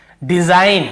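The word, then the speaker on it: design: तो देखिए डिजाइन, हम इसे क्या पढ़ रहे हैं, डिजाइन, डिजाइन।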